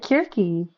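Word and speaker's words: Circe: Yeah, that's how you say it, Kirky. I did my research.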